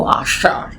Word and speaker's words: আষাঢ়: ঠিক আছে, এই আষাঢ় শ্রাবণ, এই আষাঢ় দেখো, এইটা কিন্তু উচ্চারণটা দেবব্রত বিশ্বাসের গানে যেভাবে উচ্চারিত হয়েছে সেটা একদম সঠিক। তাহলে আষাঢ় বানানটা কি? আ মূর্ধন্য ষয় আকার ঢয় শূন্য র।